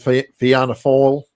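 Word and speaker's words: Fianna Fáil: Uh shut down the main political party which was called Fiana Fall. Uh and the way it's spelled in English would be would be Fiana fail, but it's the Irish.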